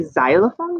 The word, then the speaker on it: xylophone: the end and if when i say xylophone you want to jump you're more than welcome to um it does start with x it just doesn't have that sound at the beginning okay are you ready